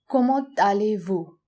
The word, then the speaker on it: comment allez-vous: As you can see, there's a liaison between comment and allez because allez starts with a vowel. So we add the T of the previous word and a from allez to make a liaison, comment allez-vous?